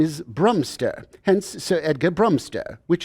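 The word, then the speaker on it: Bromstraw: spell it why sir the name is spelled b r o m s t r a w brumster that spells broom straw yeah even baby knows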